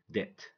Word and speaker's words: debt: B is silent when it goes before T. So we say debt, doubt.